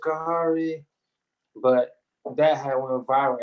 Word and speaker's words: Khari: stopped saying my name like kahari is his name it's kentucky as his number one team his name is carrie but that had went